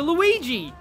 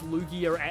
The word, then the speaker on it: Lugia: it will evolve into Luigi I I knew somebody who used to pronounce Lugia who thought Lugia was pronounced Luigi or specifically Luigi